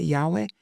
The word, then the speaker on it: Yahweh: to himself as Jehovah, which in the Hebrew is like Yahweh, right? Except without the vowels, because it's just YHWH, but it's, if we were to pronounce it, we would say Yahweh.